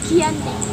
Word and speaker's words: Giyanti: Dalam pelafalan Belanda, ia sebagai Giyanti, dan secara tertulis ia terbaca Giyanti. Perjanjian Giyanti dibuat untuk meredam konflik yang berlarut-larut pasca perpindahan Keraton Kartasura ke Surakarta.